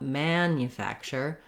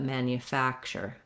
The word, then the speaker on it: manufacture: may have reduced vowels we do still have the a vowel also in the first syllable here just like in the word man but i'm not going to hold it a long time not manufacture but manufacture manufacture for the letter u